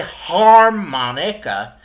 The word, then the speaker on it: harmonica: instrument okay so harmonica notice that we put emphasis on the word Mon on the syllable Mon harmonica we don't say harmonica we don't say hermana huh we say harmonica we put the stress and the emphasis on the Mon part harmonica okay I'll give